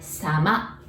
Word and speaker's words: sama: And if you wanted to say politer way of otsukare, all you have to do is to add sama. Sama. Sounds like summer, but sama.